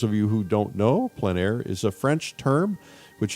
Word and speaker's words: plein air: For those of you who don't know, plein air is a French term which essentially means outside, open air, outdoors. The French pronounce it plein air. Others say plein air, but no matter how you say it, there's a huge